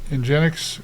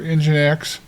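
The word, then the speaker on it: nginx: So, we're going to mess around with Engics or EngineX, uh, as they say it's pronounced here, Engine X.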